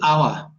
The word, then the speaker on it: our: sorry I didn't okay words in English have often two pronunciations a strong pronunciation the weak pronunciation and the strong pronunciation of this word is our and it's exactly the same as 60 minutes 60 minutes is an hour this is a lesson